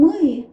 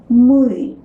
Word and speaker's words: мы: Pronoun мы translated into English as we. We already learned to pronounce a hard m in the previous lesson.